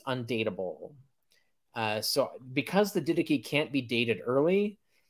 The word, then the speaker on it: Didache: The didache. Didache. Do you know what? All my life, I've been pronouncing that didash, and as well as I'm sure so many